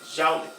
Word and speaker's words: Joule: A pronúncia é Joule, né? Mas se escreve assim.